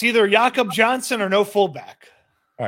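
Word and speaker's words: Jakob Johnson: Give the people the right pronunciation of the name. It's either Yakob Johnson or no fullback.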